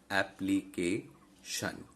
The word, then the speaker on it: application: That is, in this particular case, ka. Ap, li, ke, ke. K is the penultimate syllable here, okay? Not the ultimate one, just preceding the ultimate one. Application.